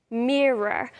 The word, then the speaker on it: mirror: Mirror. Practice that pronunciation because I often hear that mispronounced. Mirror, that very English R.